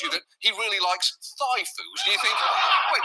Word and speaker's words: Thai: According to a former classmate, DeSantis would apparently tell dates he liked Thai food, but pronounced it thigh.